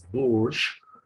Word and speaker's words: Burch: Life to Those Shadows by Noel Birch, or can be pronounced as Burch, uh, uh, where he talks about two contradictory tendencies, but one particular tendency was very, very dominant.